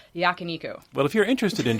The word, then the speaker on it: yakiniku: Chicken yakiniku or yakaniku. So they don't give you a pronunciation guide. Did not come with pronunciation, but I'm going to go with yakiniku.